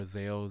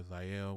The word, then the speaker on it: Zyel: find it um are zelle z-y-e-l yeah z-y-e-l z-y-e-o yeah my full name is denzel so um it's like zell or zayel whatever you want to pronounce it but that's my um